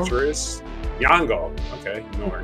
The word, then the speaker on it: Nyong'o: Lupita Nyong's, a Kenyan Nyong'o. Actress. Nyong'o.